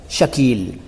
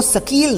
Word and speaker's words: शकील: शकील, इसको सकील ना कहें क्योंकि सकील कह देने से एक तो उच्चारण गलत हो जाता है और दूसरा अगर